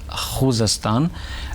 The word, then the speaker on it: Khuzestan: Khuzestan province I mean the correct Persian pronunciation is Khuzestan.